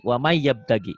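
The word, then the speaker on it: وَمَن يَبْتَغِ: Waman N-nya nggak dibaca, jadi wamai. Wamai yabtagi.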